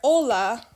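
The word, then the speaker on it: hola: sounds like an h when you say the word ola you are not pronouncing that letter okay all right just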